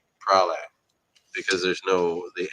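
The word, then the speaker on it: Praslin: Pralin, Prale. I'm always pronouncing it wrong because it's Prale because there's no the N.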